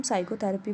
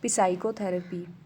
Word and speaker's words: psychotherapy: P, क्योंकि इसको हम psychotherapy पढ़ते हैं, ना कि psychotherapy.